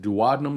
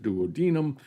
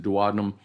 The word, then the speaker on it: duodenum: duodenum that's shown in purple here now i pronounce it duodenum you'll hear some people pronounce it duodenum i pronounce it duodenum so the smallest section of the small intestine